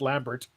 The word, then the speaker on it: Lambert: voice on demand Christopher lamber as Raiden AIDS pronounced Lambert that's how we pronounce it in Canada yeah as Raiden oh